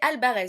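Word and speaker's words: Alvarez: parce que et ben l'Empire d'albarz autant pour moi c'est vrai que c'est pas facile à prononcer c'est tout nouveau comme nom donc c'est albarez voilà bref euh et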